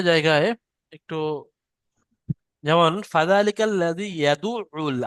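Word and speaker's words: يدعّ: দেখেন কয়েকটা জায়গায় একটু, যেমন ফাযালিকাল লাযী ইয়াদুউল, আইনের উপর তাসদিদ আছে, আইনটা দুবার উচ্চারণ করতে হবে।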